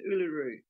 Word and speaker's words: Uluru: yes ULU Ocha and a lot of people don't know how to pronounce uaru um I've noticed in YouTube videos there's um someone from Renaissance Farms I think he didn't know how to pronounce it or a couple of other people I noticed um were struggling to to pronounce it but it's pronounced Uluru was I close I